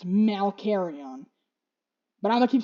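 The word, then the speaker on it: Malkarion: I have become locked into saying Malacarion because my brain thinks it's M-A-L-A. M-A-L-A. So Malcarion. M-A-L-A. So Malacarion. My brain keeps saying Malacarion, but it's Malcarion.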